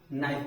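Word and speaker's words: knife: माने ज्ञान निट माने बुनना नी माने घुटना नाइफ माने चा उसके बाद एल य एक ऐसा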